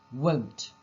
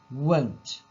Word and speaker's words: won't: I know it's difficult and very difficult to hear sometimes the way we say it, but the way you should say it is won't, as in O, won't.